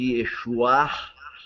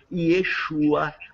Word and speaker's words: Yeshua: E mostrou, dentro de um contexto histórico, que a etimologia que houve no primeiro século deste nome era o nome exatamente Yeshua, que os judeus blasfemando dos que seguiam a Yeshua.